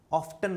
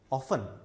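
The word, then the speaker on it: often: फिर देखिए अगला वर्ड जो है, कुछ बच्चे इसको ऑफ्टन बुलाते हैं, नहीं, ऑफन।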